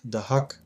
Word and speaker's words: Dahak: The principal said, "It's pronounced Dahak, but it's a pretty large village."